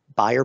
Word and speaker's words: Bayer: this case this is what's called the buyer pattern it's or Bayer pattern is some pronounce it it's a very very